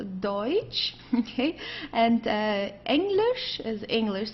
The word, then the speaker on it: Deutsch: Deutsch means German. Okay, don't confuse it with Dutch. This is not Dutch, it's Deutsch.